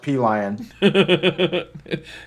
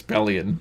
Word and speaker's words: Pelion: told them it, and it said no, it's pronounced P-Lion. Yeah, and anyways, he fell for it and pronounced it P-Line, and a few minutes later, and I was like, dude, I was totally just joking. It's not Feline, it's Pellion.